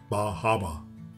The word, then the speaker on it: Bar Harbor: We stayed in the Cadillac Motor Inn right in Bar Harbor, or as the locals say, Bar Harbor.